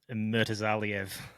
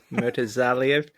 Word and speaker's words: Murtazaliev: You can pronounce his surname for me, Zach. Murtazaliev. Murtazaliev.